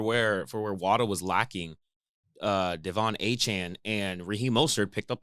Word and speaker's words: Achane: Yeah, he said it's Achan.